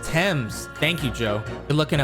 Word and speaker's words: Thames: Oh, it's pronounced Thames.